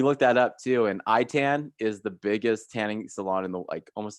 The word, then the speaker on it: Itan: or how it's spelt it's like I tan so you guys are